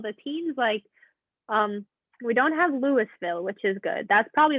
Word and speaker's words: Louisville: And also, it's pronounced Louisville, not Louisville. It's Louisville. Yeah, it's Louisville. Louisville. If you're not from it, it takes a while.